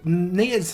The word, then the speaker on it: Nia: actor nice voice actor I'm gonna call Anaya just because I think that's the way it should be pronounced it's just pronounced Nia for some reason so I like